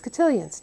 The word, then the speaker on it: cotillion: other end is cotillions now for the english of course it's easier and you call it a gutilla you don't call it a french cult of we can't pronounce that well we can pronounce cotillion and that's what in